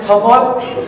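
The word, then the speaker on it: تپل: We pronounce it topol.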